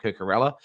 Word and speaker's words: Cucurella: And especially with the likes of Mark Cucurella, there we go, getting my pronunciation, my Spanish right in there.